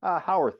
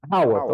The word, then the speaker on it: Howarth: It's Howarth, right? Oh, Howarth is how we like to pronounce it. Howarth.